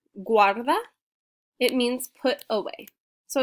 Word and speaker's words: guarda: pointing and then guarda i know it looks like garda guarda it means put away